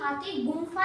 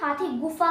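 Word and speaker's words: Hathigumpha: हाथी गुमफा नहीं। ये स्पेलिंग इसकी इंग्लिश में ऐसे ही है बट इसे हम हाथी गुफा कहते हैं।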